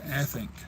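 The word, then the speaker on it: addanc: to slay his monster, an adink, pronounced Athink, various Athink, at a place called Llyn Leon in Wales.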